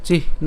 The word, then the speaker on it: চিহ্ন: করার ক্ষেত্রে আমি বলেছিলাম এর উচ্চারণ কেমন হবে চিহ এরপর হচ্ছে ন অর্থাৎ হ টাকে আলাদা উচ্চারণ করে দন্তান টাকে আমরা আলাদা উচ্চারণ করছি চিহ্ন ঠিক আছে একই